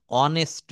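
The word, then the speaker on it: honest: নো, এখানে এই এইস থাকা সত্ত্বেও এর উচ্চারণটা হচ্ছে ভাওয়েল, বাংলায় অ প্রথমে আসতিছে, অ। হি ইজ অ্যান অনেস্ট ম্যান। এই যে অনেস্ট বললাম, এই অনেস্টটা হচ্ছে একটা ভাওয়েল সাউন্ড, যদিও কনসোন্যান্ট সাউন্ড ভাওয়েলের মতো।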